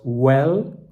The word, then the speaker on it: vel: You know the word or in Latin they say vel, that in classic Latin you pronounce well, like vita.